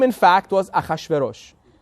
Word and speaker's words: Achashverosh: His name in English is Hashirisis. Well, they want to simplify, so they call him Xerxes. But that's not his name. It's not anything in English they don't know how to pronounce. They put a couple of X's in there. That's what it is. Xerxes, right? But his real name was Achashverosh, or he was Persian, right?